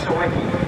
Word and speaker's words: Sawicki: It's Sawicki.